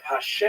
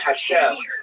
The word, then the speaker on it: Hashem: And the word Hashem, of course, is pronounced with the letter H, but there is no letter H in the Russian alphabet.